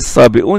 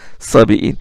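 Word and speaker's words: الصابئون: Il doit se prononcer sabi'un et non pas sabi'in.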